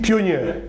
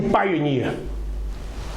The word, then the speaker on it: pioneer: Vous aurez pu dire pionnier. Or, dans le dictionnaire, on dit pioneer.